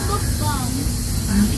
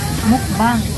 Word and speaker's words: mukbang: I don't want to do bokbang. Sure ako yun. Bokbang. Excuse me, I don't know how to say it. Mukbang.